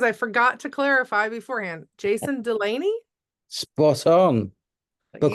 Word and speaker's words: Jason Delaney: Today I'm here with, let me hope I pronounced it correctly because I forgot to clarify beforehand. Jason Delaney?